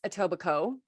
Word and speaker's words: Etobicoke: who doesn't know uh it's etobicoke um silent k out of nowhere island k but my